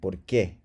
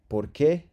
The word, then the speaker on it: porqué: And then finally, chicos, por space que, porqué. This means why or for which. Porqué, all right? So there's no emphasis here. It's not porqué. It's just porqué, all right?